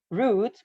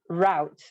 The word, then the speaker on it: route: like root root here with the rhyme of food so it's pronounced root but in the north part they use like a rhyme of out so they use like routes so i think that's